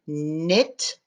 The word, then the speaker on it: knit: ren is a bird as in knit the k is silent and m b as